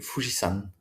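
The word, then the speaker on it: 富士山: les Japonais l'appellent le Fujisan? le Japon me fascine autant qu'il m'échappe. Alors c'est la même écriture, hein, c'est juste une prononciation différente.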